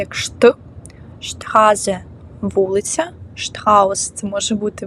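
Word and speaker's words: Straße: спорт не спорт а шшпрехн говорити далі ST читається як шт штхазе вулиця штхаус це може бути букет або страус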